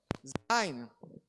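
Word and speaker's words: ז: Zain tem o som do nosso Z.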